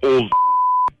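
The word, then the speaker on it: Olsk: It's O-L-S-K, but it's pronounced old.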